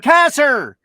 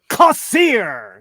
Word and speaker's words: Kassir: it was funny because the first time i was on you know you have to write out your name phonetically for for ed mcmahon to say it properly so i wrote a cassier so he said from new york i'm from baltimore cossiere because it was a bit